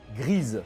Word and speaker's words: Gris: a 6 ans avec l'excellent gris qu'il faut prononcer plutôt grise mais personne dit ça le jeu vidéo est